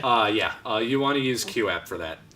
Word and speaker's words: QooApp: You want to use QApp for that. Q app? Yeah, it's spelled QOOAPP. Quap?